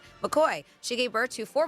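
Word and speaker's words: McCaughey: to Iowa seamstress Bobby McCaffy or McCoy. Sorry, that was weird weird way to pronounce it. McCoy.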